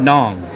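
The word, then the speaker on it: Nẵng: So, you guys just heard I just said Daong or Da Nang. And he said, "No, not Nang." Nong.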